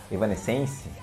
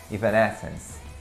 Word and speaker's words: Evanescence: Muita gente aqui no Brasil chama de Evanescence, algo do tipo, né? Mas a pronúncia em inglês é Evanescence.